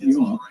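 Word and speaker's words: Gjøa: This is because there is a Johaven, which is what the locals say today use the J sound, Johaven. But the ship, from my research, is pronounced Yoa by the Norwegians.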